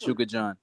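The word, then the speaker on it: Chukhadzhian: It's pronounced Chuka John.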